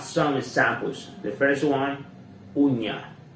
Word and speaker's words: uña: The first one, uña, uña, uña, uña. Uña means nail, nail, nail. So, uña, nail.